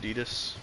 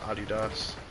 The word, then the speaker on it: Adidas: But I also really like Adidas or some people call it Adidas, but it's actually pronounced Adidas.